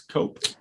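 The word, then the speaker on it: Koepp: I think it is cope David Capp that might be it he has chaos yep that's exactly yeah okay say what is it what's the pronouncing I think I believe it's just pronounced cap okay well we might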